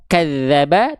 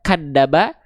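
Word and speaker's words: كذب: Misalnya gini nih yang harusnya kita baca kadzaba tapi kita baca kadaba, kazzaba ataupun kajjaba itu salah besar semua ya.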